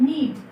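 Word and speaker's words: knead: है उसको कहते हैं नीड के साइलेंट है आपको पता है अगर एन से पहले के आए तो के हमेशा क्या होता है साइलेंट तो इसको कहते हैं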